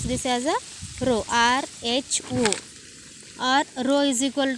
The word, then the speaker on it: rho: You should pronounce this as a rho, R-H-O, or rho is equal to m divided by volume, that is V2 minus V1 is our volume.